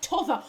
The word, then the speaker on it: t'other: When she said t'other, my heart soared. My heart soared. Yes, t'other side of square. That is the correct way to say it, not the other.